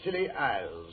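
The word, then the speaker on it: Scilly: Year's Eve off the Silly Isles. The Silly Isles? That sounds appropriate. Doctor, the name of these particular islands is spelled S C I L L Y.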